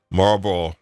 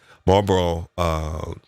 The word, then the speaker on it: Marlboro: Marlboro. There you go. I'm not even pronouncing it correctly. I've lost my Boston accent because I haven't been there in a long time. Marlboro Economic Development.